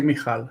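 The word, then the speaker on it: Michal: Well, in in Israel, we say Mkal, and it's a common name.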